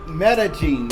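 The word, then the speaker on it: Medellín: name exactly and metagene see it's called met metagene is it's m e d e l l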